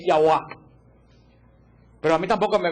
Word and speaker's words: Yahweh: Entonces, descarten la palabra Jehová, porque ningún judío puede pronunciar la palabra Jehová. Así que esa palabra está totalmente descartada. Lo que más cercano que pudo haber llegado a sonar es Yahweh.